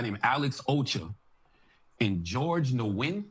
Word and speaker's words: Nguyen: What I did tell him was that these three individuals, Carson McCoy, uh another guy named Alex Ocher and George Nguyen. How do you pronounce it, Chris?